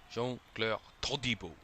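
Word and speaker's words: Jean-Clair Todibo: I have to say, if you ever saw the video of the players pronouncing their names, Jean-Claire Todibo is the best one. Jean-Claire Todibo.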